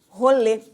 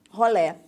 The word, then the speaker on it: rolê: Para a galera de São Paulo se diz rolê. Pra galera do Rio, da década de 80 e 90 se dizia rolé.